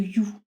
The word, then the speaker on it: U: Justement, je vais vous parler du triangle de You ou du triangle de U selon la prononciation.